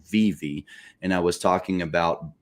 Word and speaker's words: VeVe: I was covering it I called it VI because there were no videos on YouTube about Viv telling me how to pronounce it right or even covering